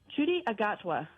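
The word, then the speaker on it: Ncuti Gatwa: Chudi Agatwa.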